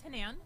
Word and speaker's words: Hanan: So my name is Hanan, pronounced like Ann, Hanan, and I am running for Village of Pelham Trustee.